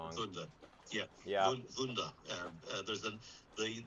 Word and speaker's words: Vuda: Yes, we have reservations at uh, Vuda Marina. I know I'm pronouncing that wrong. Vunda.